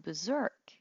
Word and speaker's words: berserk: The word berserk is actually pronounced by dropping the middle R, and it originated from